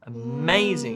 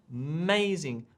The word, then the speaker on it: amazing: get this right so we don't just say uh zing like equal syllable on sorry equal stress on each syllable we actually take one of the syllables amazing and we make them amazing much more emphasized right exactly right louder and stronger and it changes it